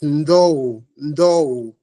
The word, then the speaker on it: N'Dou: right right priation is no do no no no okay so you are pronouncing the D in there but very subtly yes okay okay okay